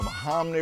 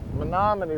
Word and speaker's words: Menominee: the Menominee River, and see if we can't catch a fish.